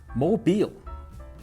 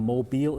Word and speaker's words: Mobile: But it turns out there's an easy explanation of why it's called Mobile instead of mobile, because that's how the French pronounce it.